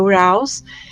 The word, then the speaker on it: Uraeus: O Uraeus, alguns chamam, ele se escreve Uraeus, a gente pronuncia Uraus, a serpente, né?